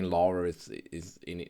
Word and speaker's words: Laura: It might be that I slip into the German pronunciation of Lara, which is Lara because um whenever Yeah, I mean in Austria if someone is called Laura, you say Lara.